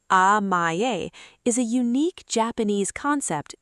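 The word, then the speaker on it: amae: Amaye, pronounced amaye, is a unique Japanese concept that describes the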